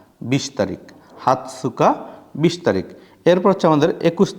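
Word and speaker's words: 二十日: হাতসুকা হাতসুকা এ বড় তস এজন্য আমরা তসটা উচ্চারণ করতেছি হাতসুকা 20 তারিখ হাতসুকা 20 তারিখ এরপর আমাদের 21 তারিখ 21 তারিখ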